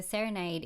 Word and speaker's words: Serenaid: So serenade is obviously um the word serenade but I have spelled it s e r e n a i d.